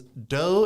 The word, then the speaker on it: Deaux: spelled like it is do is spelled the French Way D A X so if you're not from here don't type in do the normal way Village do the Cajun way uh that's the best